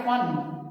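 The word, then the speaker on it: फ़न: फन बिंदु की वजह से इसका उच्चारण हो गया फन।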